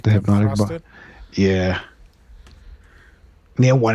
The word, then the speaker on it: Hpnotiq: I used to buy one time like those like hypnotic kind of drinks, liquor.